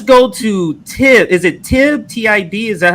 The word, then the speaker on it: Tib: Is it Tib?